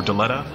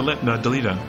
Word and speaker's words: Delita: l i t a for the longest time I was saying uh Del or deleta and it actually is De delita so it's good to